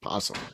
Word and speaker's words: opossum: it's pronounced possum, right?